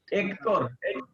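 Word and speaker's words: Héctor: H is silent. Buen Baco. Hector.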